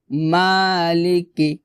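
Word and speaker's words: مالك: আর রাহমানির রাহিম তারপর মালিকি মালিকি এখানে মালিকি এভাবে ভাবে হবে না। অর্থাৎ মাতে একলিফ টান হবে।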